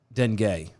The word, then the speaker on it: dengue: twitter uh it's basically it's pronounced uh dengue because it rhymes with bengay don't care so it's